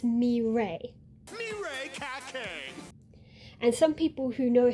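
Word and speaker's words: Mireille: familiar with French cuz if you see it spelled out, you're expecting there to be an L sound, but it's mray.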